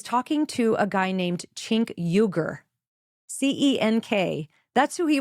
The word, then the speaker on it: Cenk: Well, we don't know for sure, because some people say that Cenk Uygur's name is supposed to be pronounced with a hard J, like Cenk. Cenk versus Cenk.